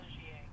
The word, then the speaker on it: Giet: Giet. Oh, Giet. Oh. When? Sorry. Oui. Giet. Giet is spelled G-I-E.